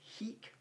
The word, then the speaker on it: hic: many roman soldiers okay latin for here is heek rhyming with squeak so uh malta bella